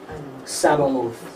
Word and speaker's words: Sabaoth: Sabaoth.